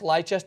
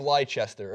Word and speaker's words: Leicester: to a pub and you're going to I'll pronounce leester leester all night in front of a bunch